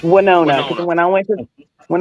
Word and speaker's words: Winona: department and I said I'm so happy that we moved to wona she oh no no no no that's not how you say it there's 656 people I think in Winona Texas and I said it wrong and she corrected me